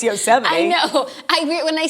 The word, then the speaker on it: Yosemite: Yellowstone is in Montana's osa might okay by the way did you say that as a joke no but it is how it's spelled yeah but like you know I know it's Yosemite yeah I agree when